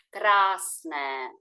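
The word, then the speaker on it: krásné: довго читається Welcome мале красне слово Красне вміщає в себе як літеру довгу А так і літеру довго е тому воно як співається Красне біле також в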